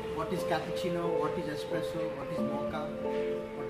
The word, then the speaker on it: espresso: contain any milk and it is Miller commonly mispronounced as expresso but it should pronounced as espresso for easy understanding I have mixed coffees with